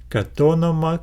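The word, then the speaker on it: κατ' ὄνομα: So instead of saying kat onoma, we need to read it as one unit, katonoma, katonoma.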